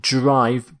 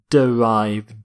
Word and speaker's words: derive: not note the pronunciation not drive but derive derive if something is